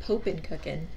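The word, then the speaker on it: Poppin' Cookin': the first it's awesome no it's like it's like poppin cookin if i'm being honest okay because poppin has two peas it is like japanese candy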